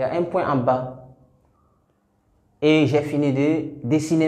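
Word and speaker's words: ب: Pour prononcer cette lettre, on ferme la bouche et on délaisse les deux lèvres. La bouche est fermée d'abord. Ba.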